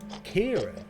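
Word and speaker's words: Cairan: Kieran, eh? I guess you'll be wanting my lunch. Those unusual names. Things C-A-I, C-A-I-R-A-N, pronounced Kieran.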